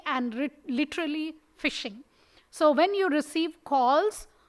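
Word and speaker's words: phishing: piece which we call fishing right spelt as pH but it's pronounced as F typically and literally fishing so when you receive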